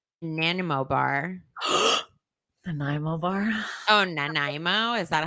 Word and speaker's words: Nanaimo: all dressed chips nanimo bar the nymobar oh nanaimo is that how you say it yes you're